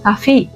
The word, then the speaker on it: Kaffee: اوكي، فهم بيقولوا كوفي، انا شربت الكوفي مثلا بتاعي. لكن بالالماني حاجه تانية خالص اسمها كافيه.